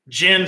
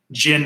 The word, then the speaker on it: GHIN: visibility of one player's gin number. Okay, it's just a modern security that they put in there. So in order for you to log into the GIN app, and that's spelled GHIN, stands for Golf Handicap